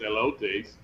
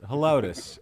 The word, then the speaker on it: Helotes: I don't think it's Elotes. No, yeah, it's Helotes.